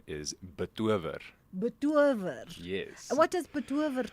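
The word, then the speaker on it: betower: Okay, so the proper pronunciation is betover.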